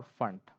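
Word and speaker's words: Pfund: याद रखने है और फंट प साइलेंट सही तो इन सीरीज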